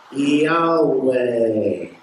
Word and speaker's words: Yahweh: Y, H, W, H. The H is silent. It goes Yahweh.